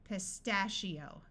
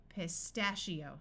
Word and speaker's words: pistachio: and this awas it takes on the muffled a sound pistachio I one followed by an O usually has a long e sound so we have EO pistachio that is a type